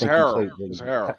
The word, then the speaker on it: Harrell: It's Harold. Harold, whatever. Montrez. That's how we pronounce our last name.